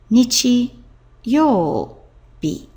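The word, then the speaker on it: 日曜日: Whereas once you use the second kanji meaning sun as this combination yobi, then the pronunciation changes from nichi to bi, and you get nichi yobi.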